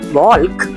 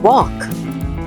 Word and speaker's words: walk: Here, letter L is silent. Not walk. It's walk.